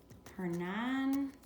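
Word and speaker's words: Hernán: Hernan, with an accent on the A. Cortez with an accent on the E.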